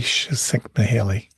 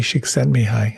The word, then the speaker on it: Csikszentmihalyi: I've always been intrigued by the work of Csikszentmihalyi. I know I butchered the name, but he wrote the book Flow a number of years ago.